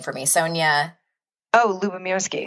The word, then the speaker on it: Lubomirsky: And can you pronounce her last name for me? Sonia? Oh, Lubomirsky. Lubomirsky, yes.